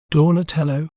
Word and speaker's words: Donatello: We may pronounce it as Donatello, Donatello, Do, Na, Te, Lo, Donatello.